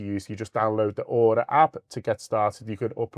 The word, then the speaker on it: Aura: You just download the Order app to get started.